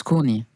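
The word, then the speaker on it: كوني: the next album correctly is it COI it's COI COI COI which means be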